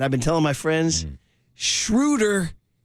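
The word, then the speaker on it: Schröder: been telling my friends shrewder is neuter I said it Rhymes Sher is neuter I'll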